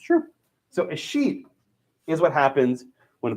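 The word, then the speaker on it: escheat: Okay, there's a concept called a sheet. It's spelled E-S-C-H-E-A-T, a sheet.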